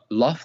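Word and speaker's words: لفظ: So let me teach you how to say it. Lafz. Sah, yeah, lafz.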